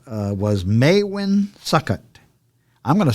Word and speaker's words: Maewyn: And his name was Maewyn Succat. I'm going to spell that.